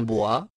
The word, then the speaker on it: bois: toponyme dériverait de l'occitan bois buis Arbus de la famille des buxacés ou du provinçal Médiéval bois prononcé BO les baronniies sont une